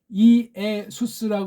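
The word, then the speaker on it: Ἰησοῦς: 모음도 뭐 어병이고 뭐가 아니까 아니 어떻게 이게 이에수스 해야 어떤 세상 사법 헬란 말 발음이 되는데 헬라 그냥 예수 구약 예호슈아 같은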